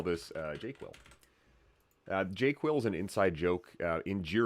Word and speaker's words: JQL: My argument is the proper way to say that word is JQuil. So when you see this word, it's made up, but it's the proper way to say JQL.